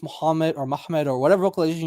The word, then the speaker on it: Muhammad: Mhmmed in that pronunciation is not an Arabic word. If it is, I want a dictionary from any time frame. The praised one is Muhammad.